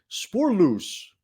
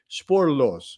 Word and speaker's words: Spoorloos: movies celebrating an anniversary Spore loose or I did that wrong sorry I had a Dutch person actually tell me how to say it sporlos sporlos uh but that is translated